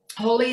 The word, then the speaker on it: Holi: And then I discovered Holy, which is really in line with all of that. Holy is spelled Holi, and it takes place on the first full moon in March.